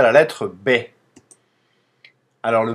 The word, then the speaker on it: Б: son le b b c'est pas un B comme en français avec un B accent aigu c'est un B un B un peu